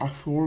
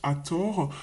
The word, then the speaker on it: Athor: est avec Athor alors le vrai nom c'est Athor les Français prononc le le T le TH se dit comme ça en Anglais les Français le prononcent at Thor c'est souvent cette déesse